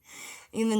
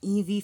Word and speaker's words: Eve: her name is not Eevee Frank okay there is no Eevee Frank her name is Eve Frankie okay yeah that's right in